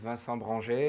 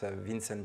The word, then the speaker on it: Vincent: of course also so my name is vanson you can pronounce it Vincent if you prefer and piagio is with